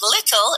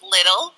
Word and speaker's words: little: Like, we don't say T's, we say T's as D's. So instead of little, it's little, That's a very American pronunciation.